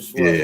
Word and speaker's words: Schwabe: Okay, Jesper yeah, Schwabe. yeah. It's spelled SCHWABE.